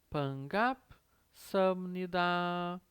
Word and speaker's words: 반갑습니다: Vejam que tem esse som do Pzinho meio seco, meio chatinho aqui de pronunciar, né, por causa do patim. Então fica 반갑습니다, 반갑습니다, 반갑습니다. De novo o som do M aqui, né, nesse 습니다, 습니다, 반갑습니다.